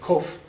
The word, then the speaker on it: kof: Okay, then that P looking thing there, that's actually kof, which is where we would pronounce it as a Q.